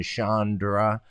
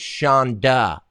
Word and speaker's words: Shonda: facebook what's your thing Chandra well first of all it's Shonda there's no arm it's CH o in da I mean everybody knows